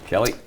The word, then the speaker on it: Kali: yeah of course Tim it's pronounced Kelly Metals Kelly but uh we're entered